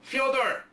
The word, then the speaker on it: Fyodor: to be said and he pronounces it like amelia fyodor pretty hilarious but uh